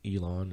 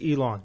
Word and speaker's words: Elon: player from, I believe the school's name is pronounced Elon or Ellen. Or I think it's Elon.